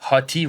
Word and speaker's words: Hotey: C'est le même que ça se prononce? Hottie, ouais.